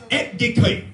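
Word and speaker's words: ἐκδικέω: The Greek translation of this very word is etdikeo. Etdikeo. And it's spelled E-K-D-I-K-E-O, which is translated as one who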